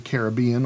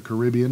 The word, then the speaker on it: Caribbean: Mexico, the Caribbean, or the Caribbean, depending on your pronunciation and proclivities.